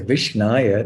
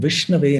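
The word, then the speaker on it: विष्णवे: or Krishna or Vishnu also I should say Vishnaya, that's wrong. So Dhiro vadati Vishnave. So Dhira means the learned person pronounces correctly and he says Om Vishnave Namaha, not Om Vishnaya Namaha.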